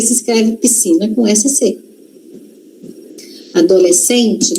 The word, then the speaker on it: adolescente: Adolescente também, ó. Adolescente, mas não é adolescente. Não é adolescente não, gente. Não tem uma respiração ali no meio, não. Adolescente. Adolescente é como se a gente falasse assim, né? A gente fala desse jeito, só que se escreve com SC.